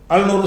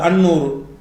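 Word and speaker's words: النور: நூறுங்கிற வார்த்தை இருக்குது, அல் நூறு, அல் நூறு சொல்லக்கூடாது, அந்நூறு.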